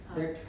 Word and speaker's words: debt: Debt. हाँ. Debt. Debt. Debt. Debt. DET. Debt. आजकल 20 silent होता है. हाँ हाँ. हमें स्कूल में डेप्ट बोलते थे.